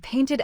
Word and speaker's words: painted: Arrived ends with D, jumped ends with T, and painted ends with T. So, painted takes the extra ID syllable.